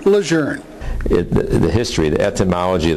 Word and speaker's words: Lejeune: just ordinary people why you say the name lour the history the ethology of the word started